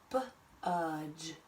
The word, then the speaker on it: budge: I'm going to cross out my D and cross out my E and put that dot above it because that reminds me that it's the soft G sound. Budge.